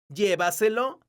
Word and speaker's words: llévaselo: La palabra llévaselo es una palabra sobreesdrújula, porque su sílaba tónica es la sílaba Y. Entonces, tiene un acento ortográfico que se escribe en la vocal de la sílaba tónica, que es la letra E.